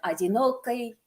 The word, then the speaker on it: одинокий: Nowadays, this word is written like this, одинокий. But in old Moscow pronunciation, thank you to Mikitko Sin Alexeyev, my favorite YouTuber, there was an old Moscow pronunciation, and these kinds of endings got pronounced more as a kai, which makes it better rhyme with this one, right?